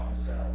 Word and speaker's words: Massell: And you folks know, am I pronouncing it right, Massell or Massell. Massell? Like, I'm gonna sell you some commercial real estate.